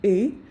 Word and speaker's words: ы: it might be different especially e which is this one and and there is no sound e in English then this is